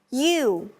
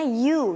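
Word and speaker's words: ewe: Kalau female ship atau domba betina kita sebutnya you ya bacanya you ya. Female kita bacanya you.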